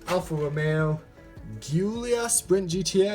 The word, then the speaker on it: Alfa Romeo Giulia Sprint GTA: looks absolutely amazing next up we have the Alfa Romeo Giulia sprint GTA I believe is how you pronounce it unboxing this one well first I